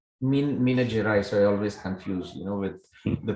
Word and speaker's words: Minas Gerais: How do you pronounce the name state? Minas Gracias. It's Minas Gerais. Minas Gerais.